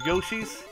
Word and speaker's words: Yoshi: really get it wrong like Yoshi like slushy Yosi there you go that's